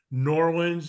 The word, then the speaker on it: Norland: to everybody out there Norland is two syllables not three or four it's just Norland thank you very much